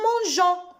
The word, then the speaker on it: mangeons: علشان أتفادى نطق الجي عشان لو شلته هنطق وأقول مانجا.